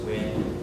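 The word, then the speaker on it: Nguyen: So my name is pronounced Win, it's N-G-U-Y-N.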